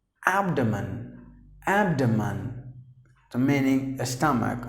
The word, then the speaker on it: abdomen: Now usually people say that as abdomen, which is wrong. And the right way to say is abdomen.